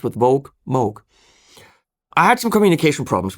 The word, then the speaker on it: Moog: the Moog Messenger, or Moog. Rhymes with vogue. Just remember that. Rhymes with vogue, Moog.